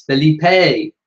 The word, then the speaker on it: Felipe: Jenny says it's Felipe.